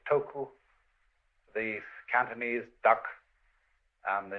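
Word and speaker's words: 徳: this word death uh the Japanese pronounce it toku the Cantonese duck and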